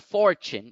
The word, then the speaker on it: fortune: example is fortune fortune if you look at the word fortune in the international phonetic alphabet you find that the apostrophe is over the first syllable so for must be accented while chin does not so the word becomes fortune fortune next we have